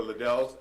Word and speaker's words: Liddell: first we have liddells at 23 510 church welcome uh ms liddell i said it right yes welcome to the evening